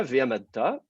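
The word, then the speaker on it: וְעָמַדְתָּ: Pour le vécatal, ce n'est pas systématique, mais en général, normalement, D'accord. l'accent va descendre sur la dernière syllabe. Alors donc, sinon, voilà, ve'amadta, c'est juste un vécatal, deuxième masculin singulier, tout à fait classique.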